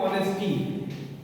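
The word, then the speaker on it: honesty: जैसे हम लोग लिखते हैं ऑनेस्टी। ऑनेस्टी लिखते हैं। ऑनेस्टी नहीं बोलते इसको। ए से हमने शुरू किया है। एच से शुरू किया है लेकिन एच साइलेंट रहता है।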